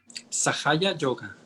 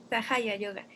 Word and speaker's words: Sahaja Yoga: Y en cuanto al significado de la palabra, ¿cómo se pronuncia bien? Sahaya Yoga. Sahaya Yoga.